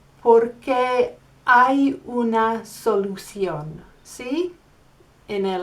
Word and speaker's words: hay: That little word is spelled H-A-Y.